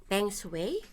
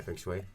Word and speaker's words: feng shui: So Well, in saying that, actually, I was watching the YouTube about the how do you pronounce it? Peng Shui? yeah, feng shui.